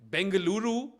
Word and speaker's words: Bengaluru: where I was like, you know, Bengaluru is what I would call it because that's the indigenous pronunciation. But apparently a lot of people call it Bangalore still.